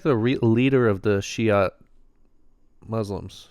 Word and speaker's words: Shia: So I didn't realize prior to this that he's like the re leader of the Shiat Muslims. Shia, how you pronounce it?